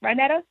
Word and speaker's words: Rynetta: Did I say it right, Rynetta? Yes, you did.